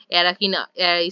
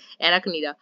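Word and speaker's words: Arachnida: সেটা দেখো এরাকিনা সরি উচ্চারণটা ভুল হয়ে গেল। ঠিক আছে? এরাকনিরা ওকে বি হয়ে যাবে আমাদের সঠিক উত্তর।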